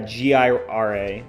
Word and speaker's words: Jira: Yeah, Gira, like this. Like the ticketing system.